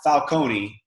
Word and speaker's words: Falcone: Todd Falcone called me yesterday. And I never knew that's how you pronounce his name. It's kind of like Nike or Nike, right?